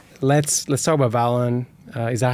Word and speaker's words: Valon: Let's let's talk about Valon. Uh, is that how you pronounce the name of the company?